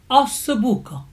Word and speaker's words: ossobuco: I'm sure that many of you know what ossobuco is, correctly pronounced ossobuco, either as spelled as one word, ossobuco, or 2 words, ossobuco.